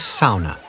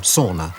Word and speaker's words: sauna: The Finnish religion is sauna, or sauna as I mispronounce it.